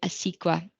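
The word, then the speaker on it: ACECQA: are looking for Early Childhood opportunities there is a squa is how you pronounce it and it's Australian children Education and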